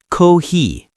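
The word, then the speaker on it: コーヒー: It is cohi. Cohi. I love the long sound at the end.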